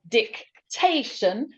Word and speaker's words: dictation: B yes yes so dick dictation the stress is on T it goes in the middle so I'm going to